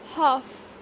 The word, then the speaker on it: half: Could, calm, half, should, talk, palm, would. So same is the case with silent L. In all these words I am not pronouncing the letter L.